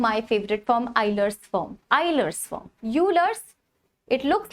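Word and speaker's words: Euler: the third form my favorite form iser's form isers form UL it looks like it is a uler uler is a mathematician right but we pronounce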